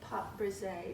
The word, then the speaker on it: pâte brisée: So to make the homemade crust, which is also called a pâte brisée, did I say that correctly? Nice French. Nice French pronunciation. This is just a classic pâte brisée homemade crust.